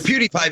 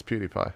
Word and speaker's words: PewDiePie: my own yeah it's PewDiePie because it's like cutipie yeah it's PewDiePie oh I guess it's fine